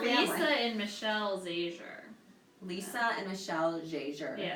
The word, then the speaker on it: Zajur: But we've talked about this in my family, how it's Zahur. Yeah, so actually, this is a fun fact. It is a fun fact. When my mom married my dad, she changed the pronunciation from Zahur to Zajur because she refused to be Lisa Zahur.